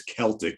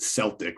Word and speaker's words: Celtic: Apparently the correct way to say it is Celtic, but I grew up saying, and everybody I know said Celtic, right? Because we didn't know any better.